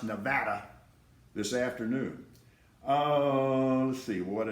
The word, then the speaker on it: Nevada: Incarnate Word has some really good football players, and yes, I do think they're going to upset Bowl Subdivision Nevada, and it is pronounced Nevada, this afternoon.